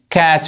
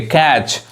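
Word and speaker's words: catch: क्या कह रहा है जब किसी वर्ड में टी सी एच आए तब टी साइलेंट होता है कोई वर्ड है अगर उसमें टी सी एच एक साथ दिखाई दे वहां पे टी साइलेंट होता है टी नहीं पढ़ाता है तो क्या पढ़ेंगे इसको मैच पढ़ेंगे सम यहां देखिए कैच पढ़ेंगे कैच जिसका हिंदी क्या होता है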